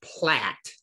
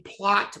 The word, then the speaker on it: plat: see right here and it's spelled p-l-a-t plat p-l-a-t this is a plat map not a plot map a plat map